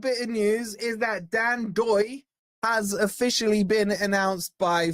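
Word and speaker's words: Ndoye: And by the way, you dropped the N just for you guys, right? If you're wondering, pronounced Dan Doy, uh, Dan Lion Doy.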